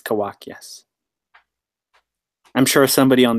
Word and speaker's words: Kawak: Kawaka? Kawak? I don't know. I don't know. Yeah. Kawak. Kawak. Yeah. Kawak. Perhaps a marketing oversight, but it's Kawak, yes.